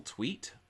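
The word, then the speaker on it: Tuit: fun where you've got Russell tweet his last name is spelled T uit he is Jack's hacker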